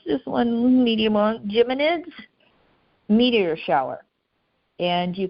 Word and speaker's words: Geminids: two evenings for the Geminid gemin help me pronounce this one mede Geminids meteor shower and and you can look at it Geminids thank you I'd go with Geminid well the